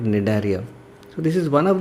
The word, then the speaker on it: Cnidaria: In all these cases I am not pronouncing the word C, the letter C, therefore it is included in this phylum called Cnidaria.